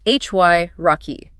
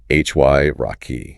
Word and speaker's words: hierarchy: Pronounced hy rocky. Hy rocky. We need to ensure that initial hy sound is pronounced clearly like the start of high not he.